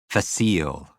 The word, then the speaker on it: facile: Facile. Facile means easy, which sounds like face eel.